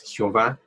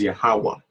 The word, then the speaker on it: Yahweh: Y por el recodo, su nombre no es Jehová, su nombre es Yahweh.